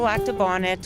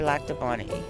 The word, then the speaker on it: Lac du Bonnet: So Lac du Bonnet or Lac du Bonnet is the pronunciation here. Either one goes? Either one goes, yeah. You won't get in trouble for either one.